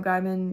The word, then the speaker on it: Gaiman: Gaiman, yeah.